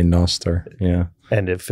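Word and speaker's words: Nostr: an early adopter to Noster or noer yeah however you want to pronounce it I think I say Noster yeah and if it's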